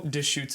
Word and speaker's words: Deschutes: if little squeezy is the brand or no dish shoots is the brand uh okay you you know how to pronounce it i did not i was going